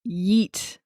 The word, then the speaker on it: yeet: I will spell it, and then I can also pronounce it in the way that it's usually pronounced, which is very deep. It's like yeet, like that. That's how it's usually said.